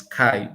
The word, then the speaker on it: Chi: me with Chiman, but the way he pronounces Chi is Kai because he's an American. CHI likely be pronounced Kai for them.